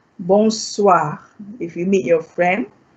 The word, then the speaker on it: bonsoir: You say bonsoir. What does bonsoir mean? Good evening. Okay, good evening. Bonsoir. Bonsoir. Bonsoir. The OI here is a wa. It's a wa.